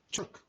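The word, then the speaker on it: Ćuk: Esse C com acento em cima se pronuncia Chuck.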